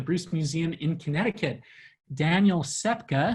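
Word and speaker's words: Ksepka: colleague at the bruce museum in connecticut daniel sepka sepka is spelled k-s-e-p-k-a um he goes by dan and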